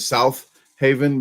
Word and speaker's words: Southaven: she really don't or South Haven I call it South Haven instead of South Haven because there's only one H so you got to say South Haven or South Haven okay folks or Mimi's